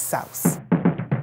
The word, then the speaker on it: souse: Am I saying it right? Yes, souse. Souse. It's a traditional Bahamian stew.